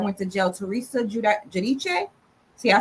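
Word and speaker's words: Giudice: to jail Teresa Jud Judiche see I say her name right I say it Italian so people like to say Terresa Guidise but their name is Judiche so Terresa Judiche and um Joe Judiche these people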